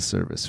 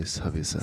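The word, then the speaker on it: 서비스: And we need to say it like that. It's not going to be like, hey, this is a service for you. No. You need to say Sabisa.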